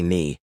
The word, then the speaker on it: knee: We once said kuni, but now we just say knee.